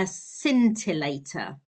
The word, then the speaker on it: scintillator: The crystal is what's called a scintillator. It's spelled s c i n t i l l a t o r.